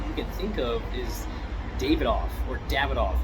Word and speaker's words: Davidoff: can think of is davidoff or davidoff right they called it i think in the uk the proper way to say it is dab it off and i i notice